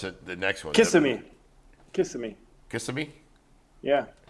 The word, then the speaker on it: Kissimmee: Kissimmee? Yeah. Is it Kissimmee or Kissimmee? Kissimmee. Kissimmee? Kiss me, Tim.